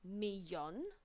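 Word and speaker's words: millón: a million and that's a cognate it's just pronounced un milon unon so if I wanted to say like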